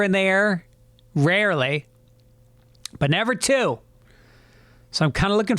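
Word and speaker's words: Theo: trip I just emailed my buddy Teo spelled t-h-e-o but pronounced T.O in Ireland good man one of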